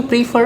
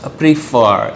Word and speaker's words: prefer: पहला लफ्ज़ प्रीफर, इट्स नॉट प्रेफर as most people pronounce it, okay, it's प्रीफर।